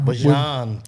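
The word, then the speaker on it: Bijan: Bjan, which it is Bjon.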